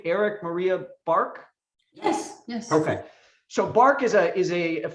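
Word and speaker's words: Erik Maria Bark: Of course, I'm talking about, do you pronounce his whole name, Eric Maria Bark?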